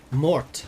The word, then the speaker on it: mort: then for that meaning Mort that's what I'm thinking of with t death the more the death of Arthur and yes I know you don't pronounce the T but I'm emphas exing